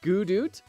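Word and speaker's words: Godot: I always forget which one it is it's pronounced gudo I actually pronounce it goodly doodly usually yeah sorry it's pronounced obviously placeholder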